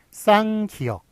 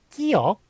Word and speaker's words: 쌍기역: 이거를 끼역, 예, 끼역이라고 읽더라고요. 그래서 유재석한테 무식하다고 면박을 당하고 그랬던 게 기억이 나는데요. 어쨌든, 예, 끼역이 아니라 쌍기역이라고 읽는다는 것, 예, 그것도 알아두시기 바랍니다.